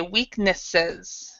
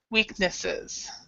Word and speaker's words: weaknesses: to time and that's when you have the e s and especially with an S here SES in English we we'll actually pronounce the S so we'll pronounce it we'll say weaknesses weaknesses what can I say